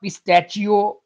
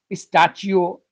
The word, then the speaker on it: pistachio: favorite dry fruit choice p-i-s-t-a-c-h-i-o not pistachio or pistachio it's it's correct spoken form is pistachio pistachio pistachio it